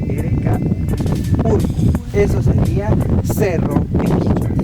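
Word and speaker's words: urku: El volcán o el cerro que está a mis espaldas en quichua es urcu, U-R-K-U, urcu, ¿sí? Tal como estoy pronunciando, U-R-K-U, urcu.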